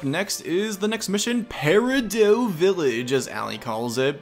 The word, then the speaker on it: Peridot: Of course, any fans of Steven Universe would know that it is Peridot Village, of course. I would not allow my name to be mispronounced by a couple of clods!